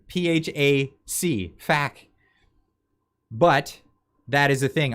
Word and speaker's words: PHAC: Why don't you just pronounce it in one? Why say hack after P? Why not just say fack? What the fack? Honestly, it's PHAC, fack.